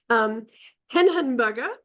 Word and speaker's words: Hehenberger: Let me introduce Hehenberger, the German pronunciation, a renowned expert on venture philanthropy and an advocate of impact investment.